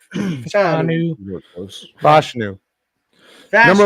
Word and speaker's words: Fashanu: They're going to take offensive tackle out of Penn State, Finishnu, or however you say his name. You were close. Fashanu. Fashanu.